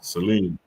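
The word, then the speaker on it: Selene: let me see how you pronounce this correctly Seline all right so we got Seline the moon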